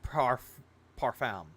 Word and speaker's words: parfum: It's pronounced parfum.